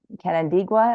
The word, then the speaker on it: Canandaigua: Orna is from the Finger Lakes VA Centers, or Canandaigua, as I learned, is how to pronounce that.